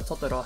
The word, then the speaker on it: Totoro: In order to win over finances, Miyazaki suggested that My Neighbor Totoro has been shown alongside another Shiro Kipli film, Grave from the Fires, as a double feature.